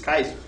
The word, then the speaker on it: Caesar: And in fact, in Latin, there's no soft C. It's Kaiser. Right? Kaiser Julius Caesar. Right? That's our Julius Kaiser.